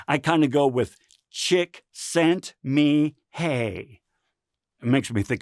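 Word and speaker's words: Csikszentmihalyi: chiet good luck trying to remember how to pronounce that I kind of go with chick sent me hey it makes me think of my wife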